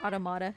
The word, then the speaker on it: Automata: And yeah, like last year, we were talking about Nier Automata earlier. Or Automata, depending on how you say it.